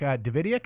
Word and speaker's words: Davidiak: And like you were mentioning, Brock Davidiak, is that how I pronounce his name?